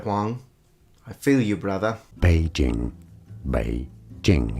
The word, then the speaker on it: Beijing: Beijing. Beijing. It's easy once you know. Beijing. And now you know. It's not Beijing, it's Beijing.